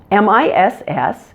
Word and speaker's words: miss: for them so miss mi SS is fairly easy to pronounce just watch out for that short I again make sure that it's short and relaxed so it doesn't sound like an e sound listen miss you don't